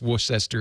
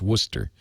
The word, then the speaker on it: Worcester: it up they're bubblers okay and it's not pronounced Wester it's Worcester Dicky bolo is at giz wiz.